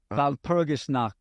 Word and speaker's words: Walpurgisnacht: Wasn't that like Valshalmer? I can't pronounce it. Walpurgisnacht.